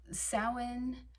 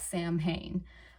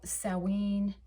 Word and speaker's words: Samhain: looks exactly like that, Samhain. Although that is not the proper pronunciation. It is a Gaelic term, so it has Gaelic roots, and when it comes